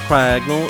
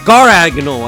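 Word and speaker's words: Garganacl: think it's how no not cagal is gagal I think it's actually how you say it this Pokemon's name always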